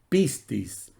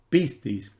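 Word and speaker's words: πίστις: en el mismo griego se escribe y se pronuncia también similar pistis pistis y que la palabra fiel o creyente se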